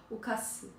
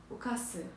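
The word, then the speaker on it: 冒: Donc, ce kanji, qui se prononce, il n'a pas de signification seule. Ah, ça peut être un verbe. Okase. Okase.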